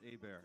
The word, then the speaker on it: Hebert: My last name is actually pronounced Abear. It looks like Herbert, though.